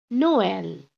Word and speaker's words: Noël: Noël. So now you just split. It's no and L.